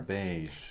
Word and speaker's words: beige: go now there are only a few words that have the voiced J sound at the end a few of these words are beige the color beige the word massage and the word prestige okay now that